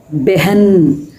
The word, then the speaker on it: बहन: அதுபடி நம்ம அப்படி உச்சரிக்கணும் பெ அப்படித்தான் சொல்லணும் பே சொல்லக்கூடாது பெஹன் பெஹன் அப்போ அந்த ஆக்சுவலா அந்த ரெண்டாவது எழுத்தை வந்து ஹ அப்படின்னு முழுசா நம்ம உச்சரிக்கணும் சரியா அப்போ பெஹன் ஷஹர்